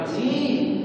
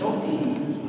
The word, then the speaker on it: نؤتيه: فسوف ن نؤتيه اجراف نؤتيه اجرا نتيه مش نؤتيه فسوف نؤتيه اجرا عظيما